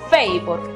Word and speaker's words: favor: La palabra favor, que también se escribe favor en inglés porque es un cognado, se pronuncia favor. Es decir, que en este caso la A toma su sonido abierto.